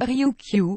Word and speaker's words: Ryukyu: est situé l'archipel d'Ryukyu, prononcé comme Ryukyu en japonais ou Ryukyu en français, constitué d'une soixantaine de